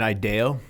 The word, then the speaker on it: IDEO: Hey, tell us about what do you call it, the IDEO brace, or is it IDEO? Like, how do you say that? Yeah, so I call it an IDEO.